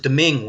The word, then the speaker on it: Domingue: I think they pronounce it Domingue, Wayne.